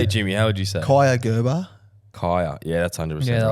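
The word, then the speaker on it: Kaia: Ka'ai Jordan Gerber. I hope I Jeez, pronounced you that butchered right.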